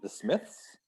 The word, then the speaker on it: The Smiths: this myth this myth the smiths yes this myth oh the h sound that one's hard to say yeah yeah yeah the s and the th together the smiths the smiths